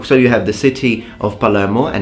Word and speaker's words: Palermo: dialect, because I'm from Palermo, okay, or Palermo, like it should be pronounced.